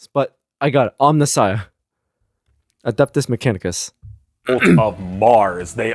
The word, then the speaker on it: Omnissiah: car and and okay I admit that I did pronounce it incorrectly the omnissiah uh cuz I I accidentally said Omnia but like I said I was just going off of like uh the pronunciation online like how they broke it down and I still said it wrong but I got it